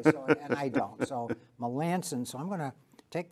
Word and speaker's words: Melanson: I'm going to ask you, because I've heard different pronunciations of that name. Is that correct, Melanson? What is it? Melanson. Melanson.